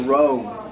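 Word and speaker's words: rho: all right that's a row it's pronounced just like an R the next one is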